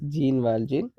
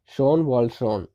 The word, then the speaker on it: Jean Valjean: is jean valjean okay it is pronounced as a though it is written as jean valjean it is supposed to be pronounced pronounced as sean waltron okay not re-involved in john wall john okay that is a pronunciation so he says i'm